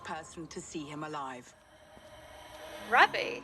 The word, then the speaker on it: Ravi: to see him alive rabi I know you rabi don't tell me I've been saying his name wrong this whole time I thought it was Ravi this always happens it